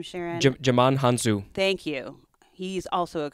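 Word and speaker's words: Djimon Hounsou: Jaman Hansu. Thank you. He's also a co-star. Great actor. I'm just not very good at pronouncing things.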